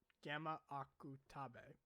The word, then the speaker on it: Gamma Akutabe: So the thing is that with Zombie Powder with Gamma Akutabe, that's probably Gamma Akutabe. Yeah, that's how you say his name.